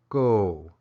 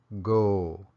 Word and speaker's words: ko: in this lesson now the object marker is pronounced go or go again just a slight